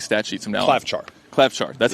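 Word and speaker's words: Klavžar: Klavchar. That's how you pronounce that.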